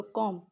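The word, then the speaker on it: comb: कॉम बेटा एम बी जहाँ पे भी इकट्ठे आएंगे ना, तो ये बी साइलेंट होता है वहाँ पे। सो कॉम, इट्स कॉम, बी is silent hair. जैसे आप क्लाइम, क्लाइम कहते हैं ना, बी लास्ट में नहीं प्रोनाउंस करते।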